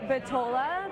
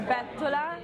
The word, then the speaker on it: Bettola: People say Bettola, but we're trying to get the word out there that it's Bettola with an accent on the E.